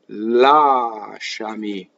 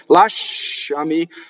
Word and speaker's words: lasciami: And when you sing, you have to make sure you separate the a from the sh, like it's a double consonant, right? Lasciare, lasciami. How many times, now go listen, right? How many times will you hear this wrong when people sing it? Lasciami, lascia, lascia, lascia, lasciami. And the accent in this case is on the ah, the very first ah.